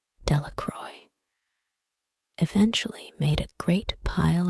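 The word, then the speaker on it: Delacroix: Jones and Dicky delaa the villagers pronounced this name delacroy eventually made a great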